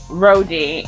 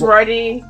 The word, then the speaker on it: Rody: I think that every time you say Rhodey, it makes me want to punch you in the throat. Wait, why is that? Because it's Roddy. Roddy. Say it properly.